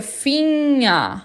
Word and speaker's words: Finger: O G depois do N eu não falo, então fica Finger, Finger.